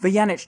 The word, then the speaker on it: Vujanic: it what's your name janice vyanich just for people who don't actually understand how to pronounce it but hello huge how are you